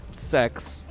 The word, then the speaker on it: sex: So 6 in Latin is pronounced as sex.